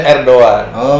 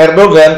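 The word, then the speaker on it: Erdoğan: tentang Erdogan er doang orang Turki bacanya er doang jadi kalau bilangnya Erdogan ketahuan belum ke Turki oke hahaha eh orang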